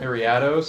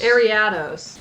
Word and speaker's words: Ariados: were interesting okay um how do you say the evolution of spinner ariados I just feel like the emphasis was on ad when I was watching them arados ariados was the emphasis they were giving that I don't know that the commentators are like trained correct yeah I know that some people say arados but I think it's ariados